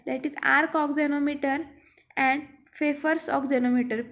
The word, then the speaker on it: Pfeffer's: These are of two types, that is arc oxenometer and Pfeffer's oxenometer. P is silent in this Pfeffer's word.